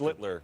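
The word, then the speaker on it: Schlittler: Every single one of you pronounce his last name. You kept first. Schlitler. Oh, well, he's the master. Schlitler. Slitler.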